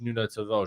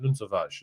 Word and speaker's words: Nuno Tavares: He also coached Nuno Tavares, or Nuno Tavares, as you'll find out. Nuno Tavares is how you pronounce it, and you'll find out how you properly pronounce it from Joao on the show.